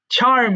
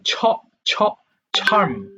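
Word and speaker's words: charm: মুগ্ধ করা চার্ম আটা উচ্চারণটা হবে কিন্তু চারম না বরং ছারম ছারমছার ছারম এরপর দেখো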